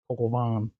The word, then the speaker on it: coq au vin: Coq au vin. Coq au vin. Is that how you say it? Yeah. It's spelled COQAUVIN.